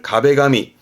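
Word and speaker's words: 壁紙: 근데 한국어에서는 이걸 벽지하지만 일본 친구들은 벽에 바르는 종이라는 의미에서 발음을 가베가미, 뜻으로 갑니다. 발음은 가베가미로 읽습니다. 뒷글자가 제자입니다.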